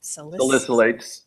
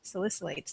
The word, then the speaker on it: Salicylates: Hi, I don't know if I can pronounce this right. Salicylates. Salicylates.